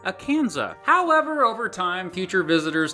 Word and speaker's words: Akansas: Akansas. But those French speakers didn't pronounce the S at the end of words, so it was just Akansa.